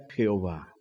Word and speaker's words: Jehová: código masorético tomaron las vocales de adonay y las insertaron en las cuatro letras del tetragrama Y entonces allí se puede pronunciar Jehová Así que hacemos bien y podemos confiar que esa es una pronunciación correcta del nombre de Dios entonces podemos decir